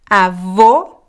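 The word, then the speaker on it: avó: so let's practice together Avo Avo Avo so the masculine is closed the feminine is open so group so group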